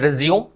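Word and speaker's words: résumé: बट जब ये noun है, नाउन है ना, नाउन होगा तो इसकी प्रोनाउंसिएशन चेंज हो जाती है, मतलब है ना रेज्यूमे, तब इसे क्या बोलेंगे, रेज्यूमे।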